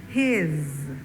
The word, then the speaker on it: he's: Notice that S is not pronounced like S. S, but like Z, his, like a Z.